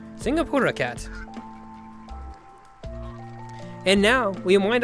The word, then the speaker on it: Singapura: It's pronounced Singapura. Singapura cat.